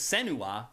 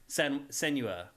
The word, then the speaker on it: Senua: a focus on and I've been pronouncing her name all along all along it's senua yeah I haven't been saying it what have you been saying send you a yeah yeah I've been